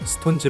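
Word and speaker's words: SixTONES: 발음이 어렵다 는 이유로 ix 를 서 문자 표기 후 녹음 처리하여 스톤즈 로 읽으라고 지시하여 칙스 톤즈 는 식스 폰즈 라 적고 스턴트 로 읽어야 하는 그룹이 되었습니다 사실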